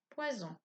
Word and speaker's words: poison: Poisson, poison. Un S entre 2 voyelles, on entend Z.